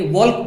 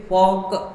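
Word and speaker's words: Volk: आप बोलोगे सर ये तो वी लिखा हुआ है, इसे वॉक पढ़ेंगे, वॉल्क पढ़ेंगे, नहीं, इसे भी हम पढ़ते हैं वॉक, एल साइलेंट हो जाता है और जो वी लिखा हुआ है इसको हम एफ पढ़ते हैं। आप बोलोगे ऐसा क्यों? तो ये जर्मन वर्ड है, बाकी सारी चीज़ें हम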